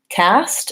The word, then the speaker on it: cast: Cast, again, vowel a, and watch out for the ST.